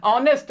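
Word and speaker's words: honest: लगाओगे, ऑनेस्ट के साथ, इसमें भी आवाज वैसे तो एच है लेकिन एच साइलेंट है, आवाज ओ की आ रही है, वॉवेल साउंड है, तो इसके साथ भी एन आ जाएगा।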